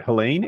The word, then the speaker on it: Helene: Cat 4 hurricane I don't know this word Helen H e l NE e oh Helen Helen yeah Helen have you ever met anyone named Helen my